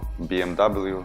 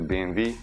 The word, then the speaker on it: BMW: BMW зразу прояснимо що англійська версія вимови цього бренду BMW неправильно хоч багато з вас вважає по-іншому бренд німецький по-німецьки буде BMW значить BMW буде правильно все переходим далі до